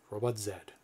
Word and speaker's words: Robot Zed: it is robot zed and it is spelled z-e-d somebody was making comments in the forums about robot z are you going to rename it to robot z no no no robot zed only in the u.s do